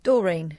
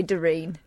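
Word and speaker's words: Doreen: no sine all right how do you pronounce this name d o r e e n Dorene Dorene no you don't say darine I've got an auntie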